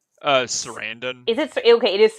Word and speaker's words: Sarandon: say his last name it's chris like uh sarandon is it okay it is surrounded i wasn't i'm pretty sure that's how it